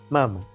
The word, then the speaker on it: Mama: nombre de los Mama, mamá sin acento en la A, Mama, M-A-M-A, pero que en